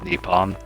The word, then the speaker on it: Nippon: things happening you know how the japanese say japan nippon yeah so that's the way someone who's japanese would say japan that's what they call japan japan is the crudely translated and horribly misunderstood pronunciation of that through the spanish then to the americans nice the guy who